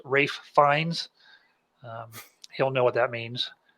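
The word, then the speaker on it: Ralph Fiennes: off I want to say to Adam it's pronounced Rafe fines he'll know what that means because uh he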